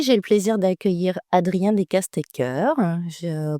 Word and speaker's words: Decaestecker: Aujourd'hui, j'ai le plaisir d'accueillir Adrien Descastecker. Je prononce comme il faut.